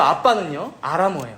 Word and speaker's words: 아빠: 번 써준 건데요이 사실이 아빠라는 말이 사실 아람어 발음 그 자체거든요 아빠 우리랑 똑같은 의미의